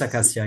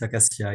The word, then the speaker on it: acacia: Species, yeah, it's acacia. It's acacia.